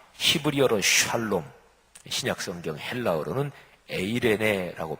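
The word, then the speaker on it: εἰρήνη: 전하신 소식은 평화 히브리어로 샤일로 신약성경 헬라어 르는 에이레네 라고 발음하는 데 평화 평안 평 가미했습니다 부활하신 주님이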